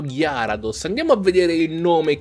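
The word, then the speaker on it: Gyarados: cento di noi come gary dos perché nell'anime veniva chiamato gary dos poi un giorno mi sono svegliato e ho detto ma veramente c'è scritto gear ados andiamo a vedere il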